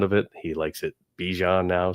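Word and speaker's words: Bijan: He likes it Bejon now. So now he wants it pronounced Bjon. So, it's Bejian Robinson.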